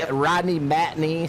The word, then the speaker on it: Matney: We got Rodney Matney, so knee like a knee.